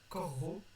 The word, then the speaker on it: corro: En fait, il faut que vous sépariez le verbe en deux et que vous prononciez les deux R dans 2 syllabes séparées. Corro et morro.